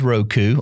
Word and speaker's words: Roku: Now, my favorite is called the Roku. It's probably the most mispronounced box in the industry, but it is Roku, R-O-K-U, and their boxes, or they even have a stick.